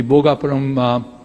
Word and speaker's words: Bhogapuram: And precisely what SAP or the Seletar Aerospace has done, we can do the same thing in the Bhogapuram Aerotropolis, that's how it's rightly pronounced.